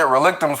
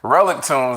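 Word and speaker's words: Relictombs: the audiobook, and then the way that they had pronounced it in the audiobook was relic tunes, and I'm just like, oh, okay, so I guess it's relic tunes now. It's not relictums, but I was saying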